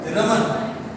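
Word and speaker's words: Ramana: रमन। हालांकि इनका नाम का उच्चारण रमना भी और रामना भी किया जाता है।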